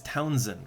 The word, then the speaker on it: Townshend: I think they just say it as Townsend, right? With a silent H.